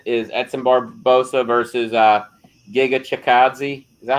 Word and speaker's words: Chikadze: The main event is Edson Barboza versus Giga Chikadze. Is that how you say it? Chikadze?